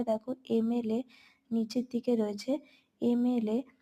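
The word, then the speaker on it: MLA: Same ভাবে দেখো এমএলএ নিচের দিকে রয়েছে, এমএলএ। তো এমএলএ এম উচ্চারণ করছি, ময়ের মতো উচ্চারণ করছি না, বলছি এম, তাহলে এ হচ্ছে ভাওয়েল সাউন্ডের মতো শোনাচ্ছে, তাই তার আগে অ্যান বসেছে। সেম ভাবে দেখো নিচে এলএলবি,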